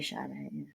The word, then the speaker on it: Sade: With an S, but you say Sade.